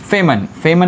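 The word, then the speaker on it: Feynman: और ऐसा लॉजिक बताया था एक साइंटिस्ट ने जिनका नाम है फेमन। यन साइलेंट है बेटा, फेमन नाम के एक साइंटिस्ट थे।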